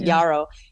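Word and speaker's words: yarrow: It's pronounced different ways, but Yaro.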